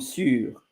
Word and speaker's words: sûr: And by instance, ça sentait les pommes sûres.